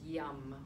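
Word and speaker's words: yam: referred to as seat syllables and the seed syllable for the heart chakra is yum Y a M you can try it with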